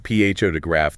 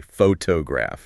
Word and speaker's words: photograph: All right, so instead of saying photograph, they say photograph.